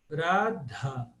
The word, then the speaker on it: Radha: do H sim sim Toda vez que você vê o h H esse H é pronunciado radha radha radha É bem